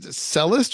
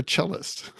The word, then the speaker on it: cellist: should know better so is it cellist or chist chist yeah so I why is